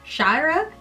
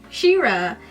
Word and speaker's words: Shira: how to okay so chira shira that's how her name is supposed to be it's pronounced she-ra has left the island